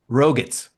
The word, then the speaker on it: Roget: Dave, I don't know how to pronounce this. Is it Roget's Roget? thesaurus? It's Roger.